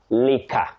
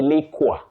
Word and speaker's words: liquor: The third word, you say liquor. Liquor. Don't say liqua and don't say leaker. Leaker, no. It has a short sound i.